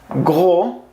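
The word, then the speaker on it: gros: host qué es grueso se pronuncia jugó sin s go grueso en masculino y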